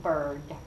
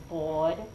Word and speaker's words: bird: So, you say turkey and bird. Where's your tongue? Turkey, bird. Yeah, it's right behind your incisors, your flat teeth, almost touching the roof of your mouth.